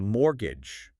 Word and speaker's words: mortgage: Next term mortgage and that tricky silent t. Ah yes the silent t they explain it's a specific kind of loan for buying a house or property and the pronunciation mortgage stressing the key sound.